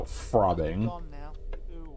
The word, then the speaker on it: frobbing: because it's very like when you pronounce it it's very close to the sound that you would make with throbbing and then combine that